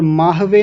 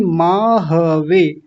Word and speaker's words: माहवे: स्वजन जिसको कई लोग बोल रहे थे स्वजन स्वजन नहीं स्वजन और माहवे नहीं माहवे ह को भी पूरा बोलेंगे स्वजन माहवे ऐसा तो अब एक बार